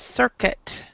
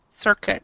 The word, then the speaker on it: circuit: this pronunciation here is circuit circuit so this I right here is silent so circuit okay thank